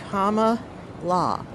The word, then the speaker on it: Kamala: Just saying, it's Kamala. And people say, oh, Kamala? No. Why don't you think it is spelled Kumala if it is Kamala? It isn't. Kamala. It's Kamala. But wouldn't that be like, it's the No, Kamala? no, that's English. It's an Indian name.